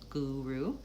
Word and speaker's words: guru: That one starts with a g sound, and then u, the vowel u, and ru. So same vowel for both of those u's, but they're the vowel u, guru. First syllable stress. So that one's lengthened. Gu and ru is shortened.